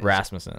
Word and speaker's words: Rasmussen: say your last name rasmussen Rasmus three syllables three syllables clap out so yeah so Colin